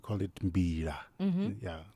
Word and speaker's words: mbira: Oh, this an instrument we call it mbira. Mhm. Yeah. So when I say mbira, I'm saying it wrong. Yeah, mbira. You must have an LA at the end.